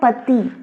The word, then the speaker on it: petit: इसका प्रोनाउंसिएशन है पति, पति। इसमें देखो ये हमारा कॉन्सोनेंट से एंड हो रहा है, तो हमने क्या करा, टी को साइलेंट कर दिया।